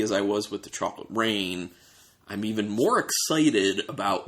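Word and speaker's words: Chocolate Reign: it is spelled differently it's said the same way as Chocolate Rain uh rain is spelled re GN instead of r a i n so this is a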